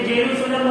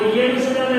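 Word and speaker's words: Jerusalem: English में बहुत जगह जे को या पढ़ते हैं, जैसे जेरूसलम बताया था, वो येरूशलेम है, बट सब जगह ऐसा नहीं होता।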